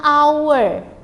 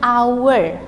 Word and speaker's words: hour: Ya, for the example, an is used if the H is silent.